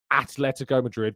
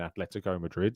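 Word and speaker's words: Atlético: I've just got this thing about Atletico Madrid, people calling it ATH. There's no H. There's no H at all anywhere in Atletico Madrid.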